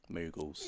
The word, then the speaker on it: Moogle: Yes, Moogles.